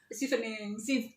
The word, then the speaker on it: Chevening: Sama seperti cerita teman kita kemarin gagal di LPDP, dapatnya di Chevening. Bacanya Chevening. Oh, Chevening. Chevening ternyata.